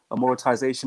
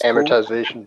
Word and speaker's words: amortization: all on uh and how did you pronounce it terry a monetization or whatever it is amortization yeah all of that